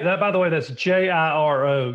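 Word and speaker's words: Jiro: by the way that's ji ro gear oh that's how you pronounce it yo Dreams of Sushi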